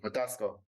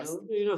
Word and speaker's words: Kgothatso: Kgothatso. Kgothatso. Kgothatso. Yes. And I see people call you, but yeah, Kgothatso.